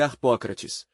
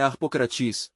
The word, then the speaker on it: Arpócrates: O nome de Arpócrates é Arpócrates, mas como mantron é Arpocratis, Arpocrat e então a gente se concentra Arpocratiz.